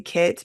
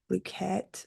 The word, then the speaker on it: Blooket: And just make sure you spell it with a K-E-T, because I know I say "kit," but it's not. It's like "bloo-ket."